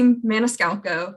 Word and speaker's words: Maniscalco: miss mason was saying my name is maniscalco that's how you say my last name it's a tricky one